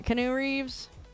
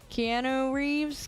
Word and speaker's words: Keanu Reeves: Yeah, I think that's how Canoe Reeves. Keanu Reeves.